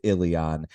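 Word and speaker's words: Illian: arrive in Ilion, which is apparently pronounced Ilion.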